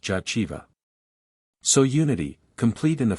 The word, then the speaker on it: Jehovah: that which the high priest in the temple pronounced jaiva so Unity complete in the fruitfulness of the